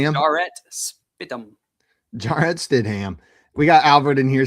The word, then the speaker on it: Stidham: How would you mispronounce it? Where would you go on that one? Stam. Jarrett. Jarrett Stidham.